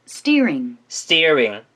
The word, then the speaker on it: steering: steering, steering이라고 안 하고 steering이라고 했죠. 약간 티귿과 쌍디귿의 중간 발음이라고 보시면 되겠죠.